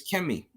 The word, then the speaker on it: Kmt: concerning the um the the pronunciation it's always kimy it's always K I've never seen it pronounced Co or spell cool in